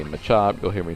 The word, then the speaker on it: Machop: And so would this Machop, actually. Machop. I know we had this discussion in the last video about how it's pronounced Machop or Machop. I'm still going to keep saying Machop.